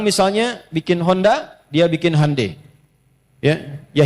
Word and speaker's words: Hyundai: Jadi Jepang misalnya bikin Honda, dia bikin Hai ya. Ya, Hyundai saya tahu bahasanya dibacanya Hai ya.